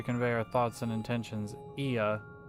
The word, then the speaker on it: Ea: When the vibration of vocal cords is still required to convey our thoughts and intentions, Ia, I believe, was the pronunciation used when referring to our people.